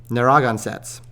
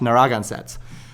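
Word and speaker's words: Narragansett: uh by the name of the naraga um naragan sets uh is how it's pronounced naragan sets um and so roger williams of course fighting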